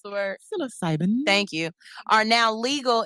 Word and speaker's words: psilocybin: Psychedelics like psilocybin, pronounce the word. Psilocybin.